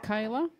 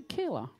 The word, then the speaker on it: Kyla: thornhoff again Kayla Kyla I pronounce it Kayla some pretty people pronounce the Killer where I'm from It's Kayla and we got an